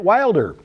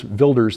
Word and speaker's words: Wilders: topic number three not unrelated the Dutch get Wilder or actually gear vilers for us English speakers it's spelled like Wilders vilder the pronunciation he won a victory in uh